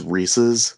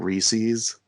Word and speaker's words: Reese's: funny we both mentioned reese's and i'm gonna take this time to say it's reese's not reese's because i hate when people say reese's it drives me insane